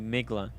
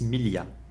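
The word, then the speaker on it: Miglia: okay all right mili no you don't pronounce the g it's millia it means a thousand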